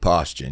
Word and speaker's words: Paustian: out is postion your real last name postion yeah ption postion ption I just keep saying